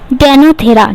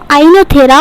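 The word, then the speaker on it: Oenothera: Plant का नाम था डेनोथेरा, ठीक है। डेनोथेरा उस प्लांट का नाम था या पूरा नाम था। यहाँ पर डी जो है ना वो साइलेंट है, इसको आइनोथेरा और लेमार्कियाना बोलते हैं, या फिर इसको इवनिंग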